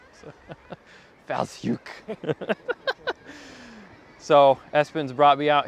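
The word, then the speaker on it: Fowlsheugh: I tried to say it Fowlslew because that's how it looks like where it's spelled. That's where we're at, is the Fowlshoek Cliffs Nature Reserve, and the very nice lady at the bed and breakfast that I'm staying at corrected me very nicely.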